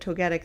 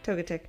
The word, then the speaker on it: Togetic: Not to kiss to It almost sounded like I said toetic there. Togetic.